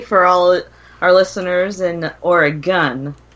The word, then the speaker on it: Oregon: walk through history for all our listeners in Oregon. Not Oregon. Wait a minute. Is it Oregon? Oregon. Ain't it Oregon? It's Oregon. Oregon. It's Oregon, Like- really? Pow pow. It's really Oregon.